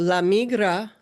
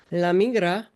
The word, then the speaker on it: la migra: So lamigra, and that's how you say it. Migra, if you can't roll your R, that's okay. They'll still understand you. Lamigra. You can say it like that. Laigra.